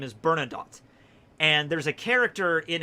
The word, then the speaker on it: Bernadotte: Okay, his last name is Bernadotte. And there's a character in Hellsing Ultimate in the dub that pronounces his name Bernadette, and everybody else says Bernadotte.